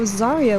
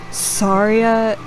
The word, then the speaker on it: Saria: even though I know it's more Saria instead of Zarya.